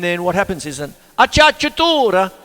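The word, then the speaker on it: acciaccatura: I used to call it when you try and pronounce it, it's like aki akatura, aki like that, but it's acciatura, and that's close, like that.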